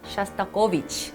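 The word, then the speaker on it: Шостакович: 위치에 대해서 이야기 해볼게요 러 히어로는 드미뜨리 씨앗을 싸고 위치 라고 발음합니다 쏘 랑 을 대표하는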